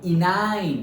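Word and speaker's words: enyne: तो इनाइन, प्रोनाउंसिएशन ऐसे करेंगे, इनाइन।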